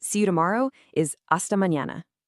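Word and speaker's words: mañana: And honestly, my personal favorite, see you tomorrow, is aasta mñana. Notice that nya sound in there.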